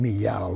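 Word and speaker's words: Miyao: forget his name meow m i y a o and we pronounce him me yaow like a cat you know but he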